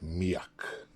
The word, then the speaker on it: Mijak: generated one thing is very important is that pronounce it miak the dawn of the feast of petrovton street